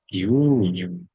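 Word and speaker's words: 牛乳: Guunyu ini cara membaca yang benar adalah guunyu.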